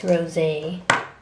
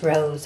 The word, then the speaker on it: Rose: them and I think it's Rosé or it's just Rose actually there's no Accent on the E this one is not